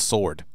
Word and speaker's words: sword: John Mark Ivy says the W is silent. It's sword.